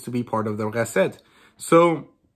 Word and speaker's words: Recette: Now, candy users are all basically criminals, and they have an antagonistic force called the Recette, which is the it's spelled R-E-C-E-T-T-E, and it's French.